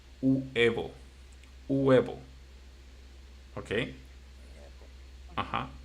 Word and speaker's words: huevo: egg, by the way, the right pronunciation for this, it should be huevo. Huevo. Okay? Yeah. Mm-hmm. Uh-huh. But so many people pronounce this so fast that people says they don't say huevo.